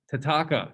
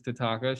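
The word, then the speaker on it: Thataka: Tataka, this H is silent. If you forget that, I won't judge you. But this is Tataka.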